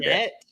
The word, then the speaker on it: debt: reason why they're in debt. Debt. He doesn't say it right. Debt. He says he puts a P in there for some reason. No, right. It's a B. Debt.